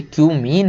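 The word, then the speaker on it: cumene: Give the equations of the reactions for the preparation of phenol from क्यूमीन। क्यूमीन से हमें आपको equation बताना केवल कि क्यूमीन से, इसको कुछ और मत पढ़ लेना भाई, ये क्यूमीन है।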